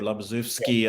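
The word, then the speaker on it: Labuszewski: Yeah, there was Nyhoff and Labashevsky, or Labazewski, as he's pronounced in America.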